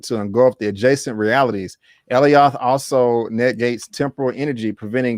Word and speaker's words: Alioth: It's Elioth, or I feel like I keep saying it wrong. Alioth is a trans-temporal entity